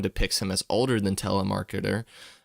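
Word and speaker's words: Telemachus: You said you find it interesting how almost everyone depicts him as older than Telemarketer, uh, which is the correct pronunciation of Tmicus when he was likely only one year or younger, one year younger or older than him.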